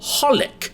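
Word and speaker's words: xxxHOLiC: The title is misleading because the thing is that the 3 X's are not actually pronounced when you say the name. It's simply called holic.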